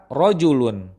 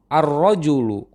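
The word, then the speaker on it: الرجل: Contoh kedua, rojulun, laki-laki. Jika didahului oleh alif lam tertentu di awal, pengucapannya menjadi arrojulu, pria itu.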